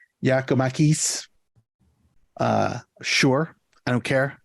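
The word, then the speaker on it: Giakoumakis: gonna go with uh uh uh Jack gumanis giokomacus that's not what the pronunciation guide says it says yakomakis uh sure I don't care write me um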